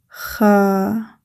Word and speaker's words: خ: Kha Kha Kha Don't worry, just keep practicing. It will take time to pronounce correctly.